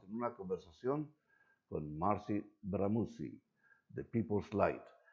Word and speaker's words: Bramucci: name because to me it looks very Italian, very BRAMUCCI. Very You're right. Mm-hmm. And I had been rehearsing your name, Marcy BRAMUCCI, and then you told me, no, it's BRAMUCCI.